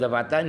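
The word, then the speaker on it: دفعة: Daf'atan itu bacanya dal dibaca fathah, satu kali. Daf'ah itu artinya adalah satu kali daripada sesuatu.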